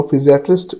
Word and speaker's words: physiatrist: complete medical branch no physiatrist is pronounced as Fizz e e at rest physiatrist So based on